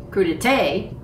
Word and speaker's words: crudité: and olive oil so I do look up crudité to make sure I'm saying it right and couldst a crudite that's what Miriam Webster says it's just a fancy